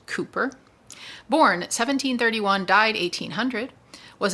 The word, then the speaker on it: Cowper: William Cowper, which is pronounced Cooper, born 1731, died 1800, was an English poet and Anglican hymn writer. One of the most popular poets of the time, Cooper changed the direction of